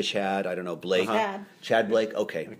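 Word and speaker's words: Tchad: i don't know blake chad blake okay the t is just there to confuse me um but uh we've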